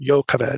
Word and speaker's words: Jochebed: it as his wife jacques abed his father's sister or joe kaveh would be the better hebraic pronunciation amram took his wife